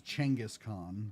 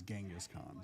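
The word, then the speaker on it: Genghis Khan: Angus Khan or that to be they pronounce it more as Changaskhan but in the west we know it as Genghaskhan. So that's why I go with that.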